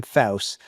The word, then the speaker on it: Pfaus: It's written by this brilliant guy named Jim Faus. Last name is spelled Pfaus.